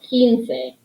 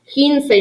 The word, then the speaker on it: quince: it's kind of a tough one to pronounce because to us english speakers it sounds like quince it looks like it should be quince if it helps you you can add the phonetic pronunciation that means how it sounds to remind yourself of how to say it keen looks like once like once upon a time but it's two syllables own say if that